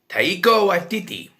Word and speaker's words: Taika Waititi: Tate Blanchett is directed by Taika Waititi. Pronounced that right.